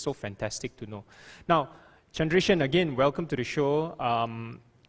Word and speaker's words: Chandreshan: I'm not like a Marvel superhero or whatnot, but I'm Chandreshan. Everybody calls me Chan because it just easy for them to pronounce it that way.